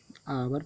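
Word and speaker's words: hour: एच से पहले ये स्वर है तो ये आवर पढ़ा गया है, ये इसको छोड़ दिया गया है।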